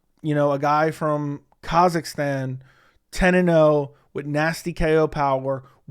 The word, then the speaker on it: Kazakhstan: 10 and0 guy from kazakistan okay Kazakhstan sorry I don't know why I just butchered that as I was trying to read it off my screen